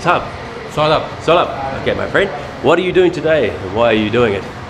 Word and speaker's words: Saurabh: Solab.